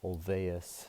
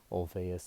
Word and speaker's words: Olweus: there's a program called Olweus it's but a little youth when it's pronounced with a V Olweus is a school-wide anti-bullying